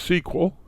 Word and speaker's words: SQL: dropping okay what does sql's mean it means structured query language it's pronounced sequel it's a domain-specific language and